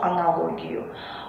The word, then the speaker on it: аналог: монолог каталог некролог диалог только одно исключение аналог ударение не падает на последний слог ещё одна тенденция существует